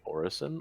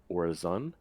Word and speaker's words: Orison: Um, the proper pronunciation for Orison, apparently you can say Orison or Orizon, uh, and it means a prayer.